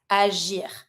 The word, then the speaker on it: agir: But if you have the letter G with the I, it's always going to be J sound. Donc, to act, agir.